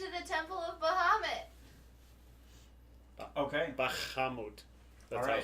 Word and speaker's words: Bahamut: Bahamut. That's Alright. how it's pronounced.